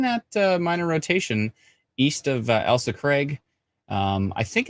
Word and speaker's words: Elsa: I always call it Alyssa and then Elsa. Somebody explains to me it's Elsa. Shadana says, I probably pronounced